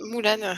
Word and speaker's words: Mulan: Mulan. Bah, parce que c'est un personnage chinois et ça, il prononce Moulane en fait.